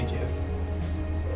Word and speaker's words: GIF: I say GIF. No, you don't. No. What happens if you keep falling? It just teleports you up to the nearest bird shrine. Oh. There we go. Jif is pronounced Jif.